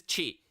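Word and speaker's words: ち: But this is cheat. It's pronounced cheat like cheese. Cheat as in cheese.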